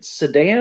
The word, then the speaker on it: Saddam: Yeah, I even asked him specifically because I heard Bill from Economics and Comics pronouncing it Saddam. And so I was like, have I been saying it wrong all these years? And so I asked him, I was like, is it Saddam? And he said, yeah, that's how you say it.